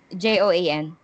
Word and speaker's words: Joan: do you spell it j-o-a-n how are you supposed to pronounce j-o-a-n joan and joanna uh for americans i think it's joan that's what i've been using ever since or joanne is fine it's okay okay because